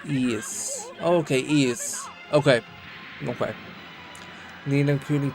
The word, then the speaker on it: Ys: Basically the grandfather of action RPGs wise pronounces ease.